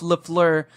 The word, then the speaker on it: Le Fleur: We're going to start off with me this week with the Tyler, the Creator, X Converse Golf Le Fleur.